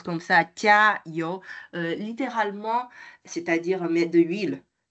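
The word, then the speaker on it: 加油: Alors, jiayou, donc si je prononce comme ça, jiayou, littéralement, c'est-à-dire mettre de l'huile.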